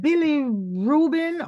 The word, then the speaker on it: bilirubin: Is it bilirubin or bilirubin?